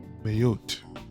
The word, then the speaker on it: Mayotte: of Mozambique uh called mayote I think that's how you pronounce it m a yo tte